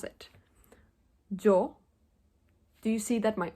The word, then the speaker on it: yo: saying yo instead of Joe and Aya instead of Eda usually the way that Spanish speakers pronounce the Y and the Double L is by having their upper teeth and their lower teeth touch so first I'm going